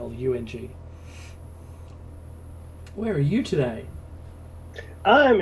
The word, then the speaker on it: Bundjalung: I've got to say it correctly because it is Bundjalung.